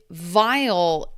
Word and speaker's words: vial: So, this sounds like vile and this sounds like awful. So, the actual meaning a vial is a um a a glass container.